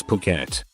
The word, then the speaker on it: Phuket: It wasn't until just about the end that I realized that I had been pronouncing Pquet as fri the entire time as I was reading my cards.